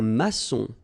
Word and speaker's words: maçon: Un maçon. Here you can see that we've got this little cédille beneath the C. Okay. And it just means that you will pronounce this C as S.